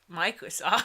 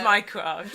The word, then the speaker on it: Mycroft: Yeah, Microsoft. It's been a while. No, it's Mycroft. It didn't sound right.